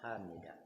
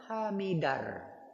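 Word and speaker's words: حمده: Hamidah ada ha di ujungnya bukan Hamidah. Apa kesalahan yang pernah saya dengar? Ada imam malah dia mengucapkan sami'allahu liman hamidar.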